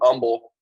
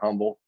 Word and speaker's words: Humble: atastocita high school in humble texas not humble everyone it's a silent h uh and ernest greene